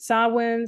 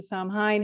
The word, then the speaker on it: Samhain: There's Halloween comes from the Celtic tradition of some people pronounce it sawin, some people pronounce it sine, however you want to pronounce it.